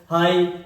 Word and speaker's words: high: यदि शब्द के पहले, यदि शब्द के अंत में, कहां पर? अंत में। अंत मतलब इंड में। शब्द के अंत में क्या मिल जाए? GH या GHT मिल जाए तो ये ऐसे वर्डों को साइलेंट कर देते हैं।